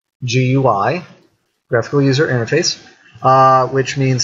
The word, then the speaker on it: GUI: a graphical user interface otherwise abbreviated as GUI pronounced GUI graphical user interface which means that is a